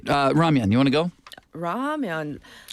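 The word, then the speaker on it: 라면: All right, Ramyeon, you want to go? Ramyeon. When's the last time? ramyeon? Yeah. Oh, sorry. Yeah, how do we say? In the U.S., I think I always called it ramen.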